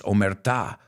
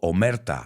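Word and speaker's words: omertà: I think many of you have heard of this code of silence, omerta or omerta. I've heard it pronounced both ways.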